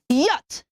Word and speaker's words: yacht: go on off not yet no y-a-t-c-h is pronounced yes everybody say yacht my father just bought an expensive yacht not a yacht number eight is the name